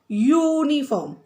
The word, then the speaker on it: uniform: Like uniform. Say uniform. U का sound है, not A-I-O-U.